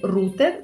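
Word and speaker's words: router: Іспанською, ее, можна сказати рутер. Це просто іспанське написання замість англійського з наголосом на у.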